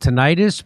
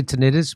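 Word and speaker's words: tinnitus: family she's also experienced tentis brain fog some people say tantis but that's not how you say it I don't care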